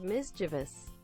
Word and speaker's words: mischievous: It's pronounced mischievous.